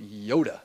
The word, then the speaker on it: yotta: Peta, exa, zeta, yoda. This is pronounced Yoda for sure, not Yada.